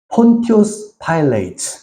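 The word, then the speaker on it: Pontius Pilate: 이 사람이 쓴 책 중에서 굉장히 유명한 책이 하나가 있는데 그게 뭐냐면 폰티우스 파일레이트. 이 영어로 본디오 빌라도를 폰티우스 파일레이트라고 읽어요.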